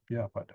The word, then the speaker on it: vyapada: Now in Myanmar, the V becomes a B. Okay, vyapada. It's easier to pronounce that way, but the original Sanskrit uses a V.